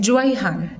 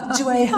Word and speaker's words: Jewihan: Jewihan. Yeah. Jewihan. I can almost spell it.